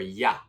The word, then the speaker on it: you: My pronunciation for you is more ya.